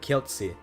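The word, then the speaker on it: Kielce: So, like this C is not pronounced like S or C. It's pronounced S. So, it's like Keltzy or Keltz. I'm not sure how the E gets pronounced, but it's it's Keltz with like a T sound. And that's a pretty consistent rule in Polish, but like it's not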